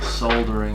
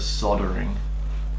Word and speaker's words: soldering: secondary just my primary why do you pronounce soldering soldering instead of soldering because it's because there's an L in it how you say it